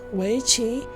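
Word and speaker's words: weiqi: is pronounced only though the chinese pronunciation is pronounced weichi but yeah i guess i suppose it's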